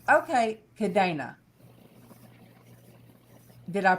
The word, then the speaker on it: Cadena: have Leticia, and I can't, how do you pronounce your last name? Cadena. Cadena in English is chain. It's a English name. All right. No, it's a Spanish name. Okay, Cadena.